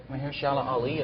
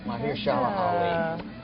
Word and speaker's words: Mahershala Ali: I actually picked Mahershala Ali in Moonlight to Oh, win, yeah.